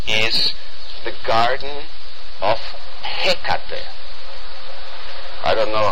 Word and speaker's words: Hecate: is the garden of Hecate. I don't know how you pronounce it in English, but yeah, well, the stress is on the beginning.